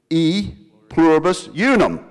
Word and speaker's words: E pluribus unum: A pluribus innuum. Otherwise pronounced E pluribus unum.